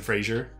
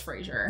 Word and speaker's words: Fraser: his last name yeah it's not Fraser yeah yeah I think everyone's always thought it was Frasier yeah it's not so